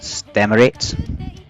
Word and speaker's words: STMLT: H they're called St MLT uh which is pronounced States and they were formed in June 2022 H